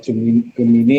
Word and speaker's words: Gemini: atau kalau Gemini atau Gemin bacanya kalau ee kalau di bahasa Inggrisnya Geminai dan sebagainya itu adalah anak-anak cicitnya ee Google.